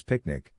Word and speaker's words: PQNK: PQNK to be pronounced as picnic which stands for Peter Kratinam cashiari and means the regenerative and sustainable pristine organic farming system.